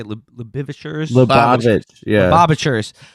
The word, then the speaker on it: Lubavitchers: Lubavitch, yeah, Lubavitchers.